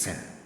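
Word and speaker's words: שׂ: like s you see something like that with s when you see the dot here is s sound s sound like S as in sin the name to is sin so you see the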